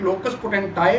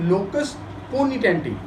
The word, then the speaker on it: locus poenitentiae: Dear fellows, इस लोकस पोनिटेंटी doctrine को कुछ लोग लोकस पोटेंटाई भी प्रोनाउंस करते हैं, लेकिन अगर आप इसका प्रोनाउंसिएशन चेक करें तो वो ये है लोकस पोनिटेंटी।